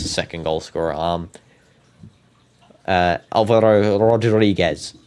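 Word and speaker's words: Álvaro Rodríguez: Alvaro Rodriguez. That's how I say his name. Alvaro Rodriguez.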